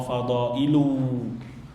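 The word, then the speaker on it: فَضَائِلُ: Dipanjangin bacanya, wa fadailu.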